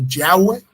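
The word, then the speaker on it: Yahweh: en vano no entonces lo que más se puede acercar digamos al español es yah o yahwe Okay pero bueno es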